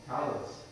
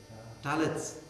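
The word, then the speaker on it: tallit: No, it's talit, but some Orthodox, the Hasids won't pronounce the last T. They'll change it to an S because that's what they do.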